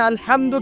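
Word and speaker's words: الحمد: আচ্ছা, এখানে আলহামদু কেমন করে উচ্চারণ করেছেন? গলার কথা থেকে, মাঝখান থেকে না?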